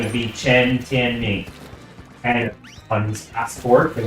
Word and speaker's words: Tianming: The writing, Tianming, is the sound, the pronunciation of those characters. So if you were to address him, Chinese or in English, his given name is Tianming.